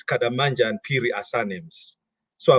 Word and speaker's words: Kadammanja: my name very well most people in South Africa say kada and you're pronouncing it very well so my name in in Malawi those two names kadamanja and piri are surnames